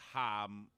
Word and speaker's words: jamaica: they have Tamarindo too it's spelled Jamaica but it's Mexican so it's ha M I was always afraid